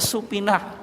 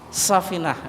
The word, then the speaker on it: Safinah: Nih, orang Jawa itu bacanya Supinah, bukan apa? Safinah.